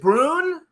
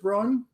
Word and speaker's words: Bruun: Is it Brun? Yeah, you nailed it. You nailed it. A lot of people get it wrong. It's like It's like Prune with a B.